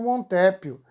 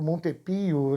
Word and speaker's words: montepio: pessoas pobres e escravos, indo atrás do Montépio, o Montepio, aí a pronúncia, a palavra italiana, e o Brasil vai para a guerra.